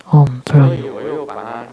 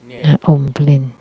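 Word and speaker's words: Om Bhrum: And the more accurate pronunciation, Om Brum. So what the Guru taught me, the other Guru taught me Om Brum. Om Blin is what we often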